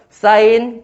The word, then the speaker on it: sin: 다시 sin이라고 쓰고 사인이라고 읽을 거예요.